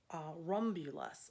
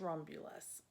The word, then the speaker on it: Romulus: fabric for this and it's called rumble us I think I mispronounced it on one of my videos actually trying to remember it but anyway it's Romulus and this is how it